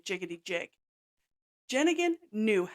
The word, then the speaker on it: Jenneiahn: like Homan Homan jiggity jig but it's jigan jenan jiggity jig jenan knew how to have fun and was kind to everyone she came in contact with she was also a non-nonsense no fluff type of person jenan is known to be a very nice old